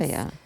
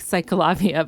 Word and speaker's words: CicLAvia: I think I'm saying it right. I heard Ciclavia. it could be called like Cyclavia, but I think it's Ciclavia, which is basically like